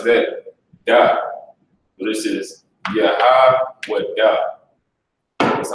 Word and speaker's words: Yahweh: So this is Yahweh. That's how you break that down. Most High in Christ. Most High in Christ. So now Malaki, if you can, and he got it right here as well. Yahweh.